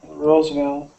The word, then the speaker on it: Roosevelt: and Roosevelt that V so somebody asked in the chat if the V sound is the same as the W sound it is not it is not they are two different sounds W's for everyone listening